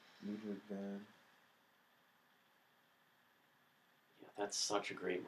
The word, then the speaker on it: Ludwig van: Ludwig von, or however he pronounces it, Ludwig van.